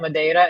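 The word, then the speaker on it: Madeira: So you were talking about Mada and Nazarees.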